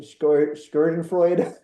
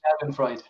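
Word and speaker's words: Schadenfreude: always how it's a German word or something skiren Freud oh Shen Frey say that again Rashid sh yes yeah it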